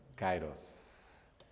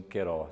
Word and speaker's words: Kairós: nome dele eu cai kairós em alguns pronunciam queiroz não é esse deus kairós ele é o deus